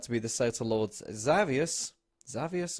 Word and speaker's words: Xavius: Although the Nightmare Lord in the dream turned out to be the Satyr Lord Xavius or Xavius is how you say it.